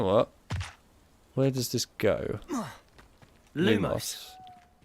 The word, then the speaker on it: lumos: where does this go lumos it's lumos not lumos the problem when you have